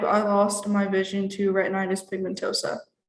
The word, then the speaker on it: retinitis pigmentosa: I am 19 years old, and at the age of 5, I lost my vision to retinitis pigmentosa. How do you pronounce that?